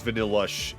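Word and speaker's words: Vanilluxe: The middle evolution's actively called Vanillish, but I always read Vanillux's name as Vanillush as well, just because you can also pronounce XE as a sh sound at times, depending on the word and also what language you're in.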